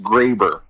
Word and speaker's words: Graber: Minor correction, my last name is pronounced Graber. Oh, good call. That's let's make sure we get that one right. Well, I would love to say that you're the first person to mispronounce my name, but that would not be the case. I always get asked, "Are you the baby food people?" No, that's Gerber. That's Gerber. Yeah, it's a little different.